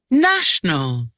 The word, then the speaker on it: national: National. National favorite National. architect. Yes, the word stress here, honey, is the na.